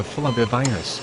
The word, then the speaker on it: flavivirus: Zika is a flavivirus, which is pronounced a bit like flavor. Flavivirus.